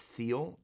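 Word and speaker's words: Thiele: Mesa Boogie they're called I think it's pronounced Thiel t-h-i-e-l-e and originally were made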